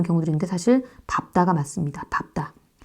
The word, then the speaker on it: 밟다: 그니까 밥다 오 다요 밥이 맞습니다 많이 잘못 발음하고 있는 경우들이 되게 많죠 여기를 발 여기를 밥다 이렇게 되는데 여기를 밝다 이렇게 잘못 바른는 경우들 있는데 사실 밟다가 맞습니다 밥다 자 그리고이 바다가 다른 말과 결합 아 널다가